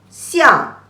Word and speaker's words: 向: an, xiang, the fourth tone. This is the mouth, also means square shape. So we remember we just learned this fang. Fang also means square and direction. And fang xiang together it also means a direction.